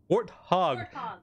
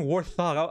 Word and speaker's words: Warthog: war hog warthog yeah warthog yeah thank you I keep saying war thong I've been saying war thought for the longest time and I know I've been saying it wrong and I just never changed it but yeah warthog we